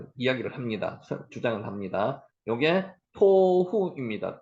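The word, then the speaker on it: תֹהוּ: 합니다 주장을 합니다 요게 토후 있니다 토후 글자 위에 점입 했는 거는 오 발음을 한다 그랬습니다 여기게 t 발음이 토후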